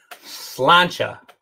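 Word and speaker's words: sláinte: uh thank you uh slancha i think is how that's pronounced slancha thank you patrick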